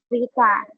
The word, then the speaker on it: beta: The how to pronunciation is beta, like very.